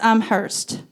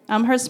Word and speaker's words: Amherst: health in nutrition at the University of Massachusetts Amhurst. Did I say it right? Yep. Amherst, Massachusetts.